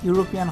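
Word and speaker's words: European: mate him ইন দা ইউরোপিয়ান hotel ই দিয়ে শুরু হয়েছে এটা ভাওয়েল কিন্তু ইউ এর মত উচ্চারণ ইউরোপিয়ান হোটেল ইউ এর মত উচ্চারণ হয়েছে দেখে এটার আগে এন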